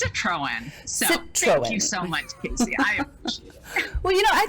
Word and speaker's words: Citroen: let you say your last name because i butchered it after i practiced oh you did great it's citroen so well you know i think it's important